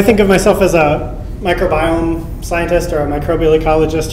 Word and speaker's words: microbiome: I find it unfortunate that we've adopted this pronunciation of microbiome, and I think the meaning is more clear if we would say it as microbiome, which links it more clearly to genome and proteome and metabolome.